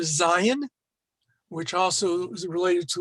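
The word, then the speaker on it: זַיִן: We're working on the letter Zion, which also is related to the word for weapon, in case you're interested. The Zion always has the same sound as the letter Z or the letter Z, whichever one you prefer.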